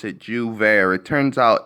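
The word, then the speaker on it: J'ouvert: word hold on jus there that's how you pronounce it jouvert it turns out it's a festival and I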